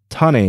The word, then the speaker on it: Tane: chosen light god tane tane is spelled like the hawaiian word kane with a t as in tom replacing the k fido's most common harbingers